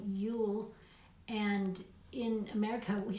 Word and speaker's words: jul: it's so funny because they pronounce it ju l you'll and in America we